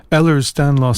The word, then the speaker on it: Ehlers-Danlos: a condition known, and help me if I pronounce this wrong, Ehlers-Danlos syndrome.